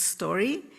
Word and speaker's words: SDQY: a platform called um SDQY, pronounced story.